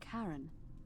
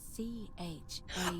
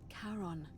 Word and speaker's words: Charon: The name you heard wasn't Karen. It was C-H-A-R-O-N. Oh! As in Charon, the ferryman of the dead. Charon, who, in exchange for